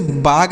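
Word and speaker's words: bag: तो इसे ऐसे पढ़ेंगे इसे बाग नहीं बैग पढ़ा जाएगा यानी यहां पर ए का जो उच्चारण हो रहा है वह ऐ की मात्रा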